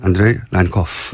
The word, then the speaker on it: 안드레이 란코프: 지금 이 상황을 이분은 어떻게 보실지 러시아 출신 북한 전문가 국민대학교 안드레이 란코프 교수님 스튜디오에 직접 모셨습니다. 안녕하세요. 네, 안녕하십니까. 제가 발음을 잘했습니까? 안드레이. 잘했습니다. 네, 잘했습니다. 네, 안드레이 란코프 네.